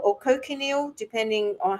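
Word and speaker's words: cochineal: um some foods will say this has the coil or cocal depending on how you pronounce it c c h i n e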